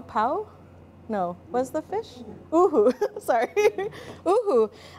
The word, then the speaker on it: uhu: But we decided to use pau, pau, pau? No, was the fish? Uhu, sorry. Uhu.